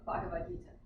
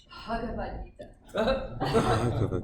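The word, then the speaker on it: भगवद् गीता: with that in ISKCON, but actually it's Ha. That H has, like I said, there's no silent letters in Sanskrit. Every letter has, you know, it makes its sound. So it's the combination of Ba and Ha, but with no vowel sound. So it's just Ha. It's like a breath.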